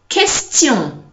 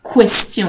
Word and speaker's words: question: Okay, so in French it's qui, quand, quartier, question, and not question. Okay, so there's no w inside.